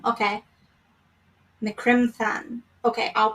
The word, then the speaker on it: Criomthann: Because I was looking it up and I heard it was Macron. Okay. Macrim Than. Okay, I'll pronounce it correctly from now on.